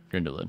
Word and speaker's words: Grindelwald: are they grand dallad grindeling grindelwald grindelwald that's the pronunciation they're great the crimes